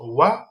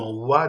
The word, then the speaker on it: Wa: Et ensuite, nous avons donc par rapport à la lettre Wa, ok, donc sa spécificité donc à cette lettre, donc ça s'écrit U, mais ça se prononce comme Wa, donc au départ donc du mot, donc en tête donc du mot, au départ donc du mot, c'est Wa, ok.